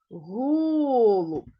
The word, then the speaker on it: голуб: наголошений правильно другий лисиця у слові Голуб на який склад падає наголос Голуб на перший а в слові ведмідтьь